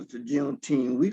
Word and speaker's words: Juneteenth: Well, I had never heard of Juneteenth until I got to California.